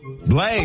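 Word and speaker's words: Blaise: Slade SED Slade can you can you spell that for me b l a i s e Blaze Blaze well Blaze you you we got your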